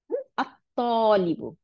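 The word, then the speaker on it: الطالب: আত্তলিবু, ত, আলিফ, জবর ছিল, এখন আলদতে লামটা গিয়ে তকে দুইটা ত বানাই দিছে, দিয়ে তখন উচ্চারণটা ছিল তলিবুন, তলিবুনটা যখন আল দিলাম তখন এটার উচ্চারণ হলো আত তলিবু, আত তলিবু, দুইটা ত হয়ে গেল।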